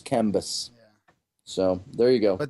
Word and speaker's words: Cambyses: armies of Pharaoh, which follows the armies of Cambis, or as Scotty would like to say, Cambyses. Keep in mind, it's spelled C-A-M.